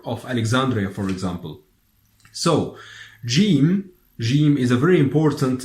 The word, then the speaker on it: ج: gene we pronounce it game so usually your pronounces gene as I told you like in George are also like if you are saying giant for example gene gene but in